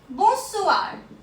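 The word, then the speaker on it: bonsoir: going to रब it next greeting we have बोसुवार बोसुवार बोसुवार war means good evening good evening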